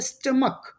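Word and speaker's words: stomach: जैसे कि आप देखेंगे स्टमक, यहाँ पे जो आपको मिल रहा है सी एच, इस सी एच का जो साउंड है प्रोनाउंसिएशन है एंड पे आ रहा है का, क्या आ रहा है बेटा, का आ रहा है।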